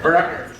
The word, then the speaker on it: Bernard: Bernard. Accent on? Well, you guys don't even know. First syllable or second? Second. Bernard.